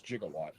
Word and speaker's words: jigawatt: how you pronounce that I don't call him gigawatt I don't care what anyone says the joke is jigawatt the only crossover figure